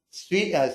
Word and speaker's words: suite: Like many other banks, private banks offer a suit of uh in English ter in English pronunciation, US pronunciation. sweet suite of financial service products and services but to much more specific audience.